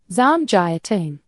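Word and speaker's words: 삼계탕: Pronunciation help. Samgyetang. The gi sounds closer to jaya than guy.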